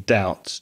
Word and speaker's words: doubt: has a silent letter there's a silent B in doubt d o u BT but we don't pronounce it so it's doubt I